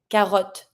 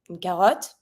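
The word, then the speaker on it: carotte: to pronounce it because we're going to pronounce the T and the O is going to be a little more close than what it is in English but we're going to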